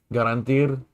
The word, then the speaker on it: garantir: So it's more of an E sound, not you don't really say the R at the end of it.